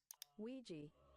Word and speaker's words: Ouija: It may seem unrelated, but I've asked a data analyst expert to give us the proper pronunciation of this word. Ouija.